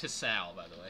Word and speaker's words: Hisao: And it's pronounced Hisao, by the way.